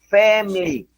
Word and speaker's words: family: El punto aquí es que la i la griega, la i latina que está aquí no se pronuncia. No, los gringos, los nativos no dicen fam, no, no, no, ellos dicen es family.